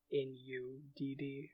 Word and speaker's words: Nudd: So like in "Gwyn ap Nudd," his patronymic is spelled N-U-D-D, and then the, the double "d" is pronounced like "the."